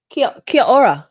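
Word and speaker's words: Kia ora: She's um Kia Kiora, which is how you say hello in in New Zealand.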